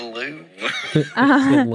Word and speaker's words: Louvre: It's the Louvre.